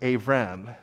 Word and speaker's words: Avram: this was written in his name would have been pronounced avram with a v and the first part